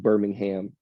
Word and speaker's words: Birmingham: G League team to Birmingham Alabama and yes that's it is pronounced Birmingham in Alabama because of the accent um but yeah so that's the Birmingham Squadron so that yeah